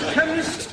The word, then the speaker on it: chemist: Chemist does not begin with a K. It sounds like it begins with K. C-H. But that is making it chemist. No, the C-H is pronounced K.